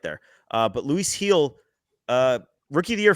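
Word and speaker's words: Gil: one Luis heel G it's pronounced heel against Brian beo who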